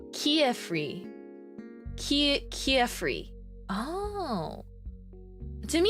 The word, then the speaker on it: Kifrey: Before the anime, I said Kifrey, like Kif from Kifrey. Kif from kitten and Frey from Freya. Kifrey. Oh, I guess I always read it like Quifrey. I say it like Kiefrey.